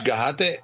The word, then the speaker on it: Gajate: But that's Gajate.